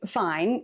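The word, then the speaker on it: fein: And fine is actually fine even though it's spelled F E I N.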